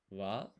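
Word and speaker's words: は: This is ko re wa. Now I know this looks like ha, but it's pronounced wa in this case.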